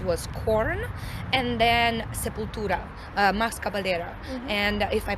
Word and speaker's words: Max Cavalera: I believe the first band that I've noticed had dreads was Korn, and then Sepultura, Max Cavalera, and if I pronounce that correctly. Max Cavalera. Cavalera, yes.